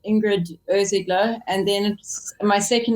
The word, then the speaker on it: Irsigler: photographer with the name that no one can pronounce that let's just go into that i have a terrible surname my surname is and um what happens is um it's kind of like ingrid ozeglo and then my second name is so